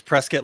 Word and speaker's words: Prescott: It's Prescott like biscuit.